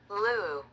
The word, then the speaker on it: Liu: So, how do you pronounce Liu? Lou. Lou. Lou. Lou. Lou? Lou. Lou. So, Lou. Okay, so Lou. Okay. Let me switch back to my story. Okay, we're back now. It's pronounced Lou.